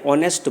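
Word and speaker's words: honest: रही है ओटल एन ऑनेस्ट मैन तो देखिए यहां नेस्ट मैन नहीं पढ़ते ऑनेस्ट मैन पढ़ते हैं स्वर की तरह आवाज निकल रही है आ से आहा के बीच में उच्चारण निकल रहा है इसलिए ऑनेस्ट मैन के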